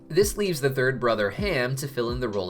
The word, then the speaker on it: Ham: the book of Exodus ham itself is an English pronunciation with the Hebrew term being closer to cem which was well known